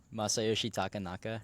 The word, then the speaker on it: Masayoshi Takanaka: And then there was another one Joey had mentioned that's a Japanese, I'm going to butcher the name. How do you say it? Masayoshi Takanaka.